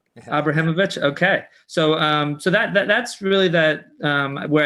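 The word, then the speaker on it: Abramowicz: Am I pronouncing that right? Yeah. Abramovich.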